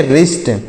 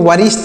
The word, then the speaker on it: wrist: WRIST, तो इसे पढ़ेंगे रिस्ट, WRIST, यहाँ पर W साइलेंट है, इसको वरिष्ठ नहीं पढ़ेंगे, रिष्ट पढ़ेंगे।